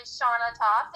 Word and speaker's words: Shanna Toft: It's actually Shanna Toft. It's just spelled a little bit differently, and almost everybody calls me Shanna or Shayna or Shannon, but it is Shanna.